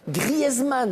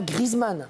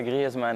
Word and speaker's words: Griezmann: Griezmann et pas Griezmann. Voilà, Griezmann, ouais.